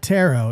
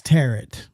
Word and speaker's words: tarot: It's not tarot, it's tarot. Like carrot.